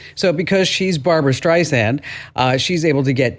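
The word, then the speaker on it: Streisand: It's not Barbara Stice Xand, it's Barbara Stand, like sand, like sand on the beach.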